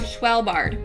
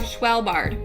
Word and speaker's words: Svalbard: Starting off this countdown, we have Svalbard.